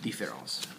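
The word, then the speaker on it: différance: the the exact same there's no pronunciation difference however there is difference in the way in the way it's written uh this one this one with the E still pronounced d ferals um so um first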